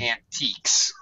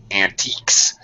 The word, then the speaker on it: antiques: And the last word, not antiques. Okay. Changes here. It's ant. Antiques. Antiques. And u here makes a like k sound.